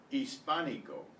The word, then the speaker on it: hispánico: The H in Spanish is always silent except in the combination of CH, where it's pronounced the way we pronounce it. So, I, E, A, O, U, instead of pronouncing the H. It's silent.